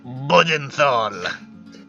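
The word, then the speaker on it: Bödenthal: I said Bodenthal. It's a good name. Bodenthal. That is fucking not what I said. I'm It's really sorry. Bodenthal. It's B-O with an umlaut. D-E-N-T-H-L.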